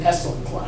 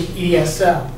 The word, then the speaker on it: ESL: here you have esl you never hear anybody say i'm taking an essel you don't really pronounce this as a word you say esl as the initialism however as we found